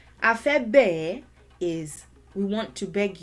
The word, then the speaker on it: A fẹ́ bẹ̀ ẹ́: This first one is pronounced afebe, afebe, afebe.